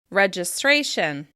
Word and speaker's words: registration: sound let's look at our example word registration in this example the stressed syllable is stray try saying this syllable